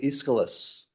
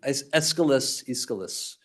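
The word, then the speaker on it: Aeschylus: Take for example um the orosta uh by the Greek playwright Iscilis. Sometimes you'll hear the name escaliscalis uh I think is the right pronunciation and the ore is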